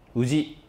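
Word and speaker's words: 氏: 那我们看世姓制度哈，这个世呢，它读成无忌，好，那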